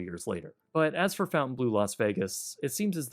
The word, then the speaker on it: Fontainebleau: on patreon man uh Fountain Blue fonte blue actually no no you're not even going to get that fancy wording no we're going to go back to Fountain you don't deserve the fancy pronunciation because there's nothing luxurious